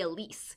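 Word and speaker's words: Alys: girls and the author her first name is spelled a-l-y-s and so i don't know if it's pronounced elise or alice then i'm gonna say elise so elise arden is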